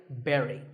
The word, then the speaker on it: bury: But this word sounds just like the berry in strawberry. So once again, bury.